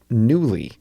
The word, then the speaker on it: Nuuly: They announced a new venture called Nuuly, Nuuly. It's spelled oddly, but it's pronounced Nuuly.